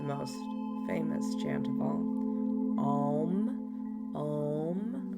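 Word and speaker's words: aum: famous chant of all om om right it's actually spelled a u m some people spell it om M um when chanting om really want to emphasize that a sound a uh with some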